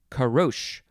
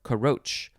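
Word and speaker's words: caroche: that of chocolate and our last word is karosh or karoch c-a-r-o-c-h-e noun from 1591 a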